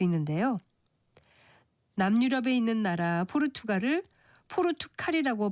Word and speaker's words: 포르투갈: 남유럽에 있는 나라 포르투갈을 포르투칼이라고 발음한다든지 쿠데타를 쿠테타로 그리고 타깃을 타켓으로 발음하려고 하는 이치와 같은데 모두 거센 소리로 발음하지 않는 것이 맞습니다.